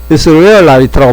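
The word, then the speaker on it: Israelite: 이렇게 되면 이스라엘라이트라고 발음하거든요. 다시 라이트.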